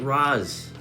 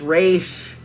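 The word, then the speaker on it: Ra's: also the fact that they keep pronouncing it Roz. That's not... that is my biggest pet peeve is when they pronounce it Roz. It's just it's Raish. It's Raish, guys.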